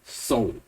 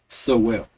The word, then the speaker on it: Sowell: It's Thomas Sowell, not Sowell.